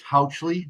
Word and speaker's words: Houchley: It's Houchley, like couch. Houchley.